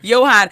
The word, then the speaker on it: Yohan: win i don't care what it was say johan so we're here talking to johann blake this